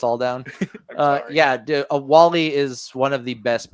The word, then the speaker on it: WALL-E: Wallally. You said it wrong. That's on you. That's on you, Randy. You let us all down. Uh yeah, A Wall-E is one of the